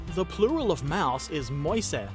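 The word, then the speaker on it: Mäuse: The Agile Aardvark says, the plural of mouse is moise. English native speakers could pronounce it rather easily using the first part of moist.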